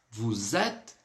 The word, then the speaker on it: vous êtes: Vous êtes d'où? Então, bacana essa estrutura porque nós teremos tanto a ligação, ou seja, vou fazer o som do S com o E aí, pronunciando o som de Z.